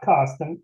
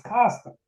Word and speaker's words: Karsten: "Karsten, do you mean don't look a gift horse in the mouth?" I asked. "My name is not Karsten, it's Karsten," he replied, saying his name exactly the same each time.